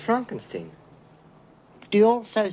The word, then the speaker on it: Frankenstein: Frankenstein Frankenstein you're putting me on no it's pronounced Frankenstein do you also say